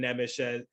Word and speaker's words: Nemec: But looking at Simon Nemec, and there's different ways to say his name. I've been hearing Simone Nesmith or something like that. I have a buddy who's big on pronunciation for European players, and he knows how to do it correctly. But the English version is Simon Nemec, as far as I know.